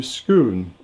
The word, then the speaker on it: Scone: had the stone moved to Scoon and also got the right pronunciation there it which is near